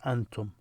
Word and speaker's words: أنتم: If you're talking to more than one person, you say أنتم. So this is a Hamza, a.